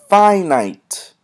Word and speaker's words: finite: Finite. Finite has two syllables, finite.